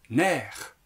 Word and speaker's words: nerfs: ça me fait plaisir prononcez nerfs mer les nerfs c'est ceux